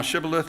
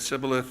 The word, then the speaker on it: Shibboleth: unto them, "Say now Shibboleth," and he said Sibboleth, and he could not frame to pronounce it right.